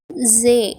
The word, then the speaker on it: ز: இதோடைய உச்சரிப்பு எப்படின்னா ரா, வைப்ரேட் ஆகிற மாதிரி உச்சரிக்கணும், ரா. மொத்தமாக சொல்லணும், ரா. ஜே, இது 11வது எழுத்து.